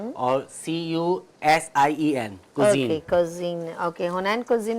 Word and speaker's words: Cusien: हुनैन कुजीन के नाम से हुनैन कुजीन के नाम क्या से, स्पेलिंग है आपके? HUNAIN हुनैन और CUSIEN कुजीन।